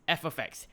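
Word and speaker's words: f(x): You'd write the function down like this, pronounced f of x, where the inputs are in the brackets.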